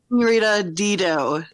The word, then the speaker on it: Senorita Dido: Senorita Dido is how Sabrina told me it's pronounced.